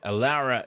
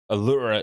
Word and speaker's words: Aura: huh but um yeah aara is how I pronounce it but uh Aura is the proper technical pronunciation isn't it hey and